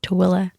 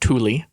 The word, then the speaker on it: Tooele: small town called chiwilla tooele not thule i used to i